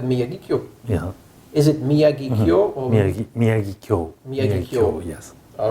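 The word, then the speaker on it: Miyagikyo: Is it Miyagi-kyo or Miyagi-kyo? Miyagi-kyo, yes. All right, very good. Very, very difficult to pronounce.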